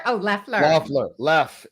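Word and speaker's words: Loeffler: Oh, I said Laughler. Oh, Leler. Laughler. Left. It sounds like it's got the O, but it's Leler.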